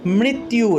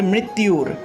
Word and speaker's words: মৃত্যুর: উর্বা রুকম ইব বন্ধনান মৃত্যুর, এখানে দেখুন মৃত, তারপরে জফলা আছে, জফলার পরিবর্তে ইয় উচ্চারণটা আসলো, তাহলে মৃত ইউর।